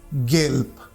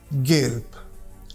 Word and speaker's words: Gelb: When it appears at the end of German word, then it is pronounced like P, as in Gelb, Gelb.